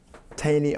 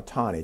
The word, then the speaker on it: Taney: You had a Supreme Court justice by the name of Roger Taney or Taney, depending upon how you want to pronounce it.